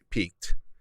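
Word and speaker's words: piqued: i q e d peaked but they have very similar they have same pronunciation they're spelled very differently and they have very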